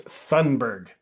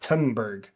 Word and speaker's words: Thunberg: It's Thunberg, not Thunberg.